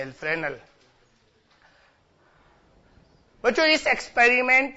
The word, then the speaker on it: Fresnel: Spelling फ्रेस्नेल होती है, FRESNEL, फ्रेनेल।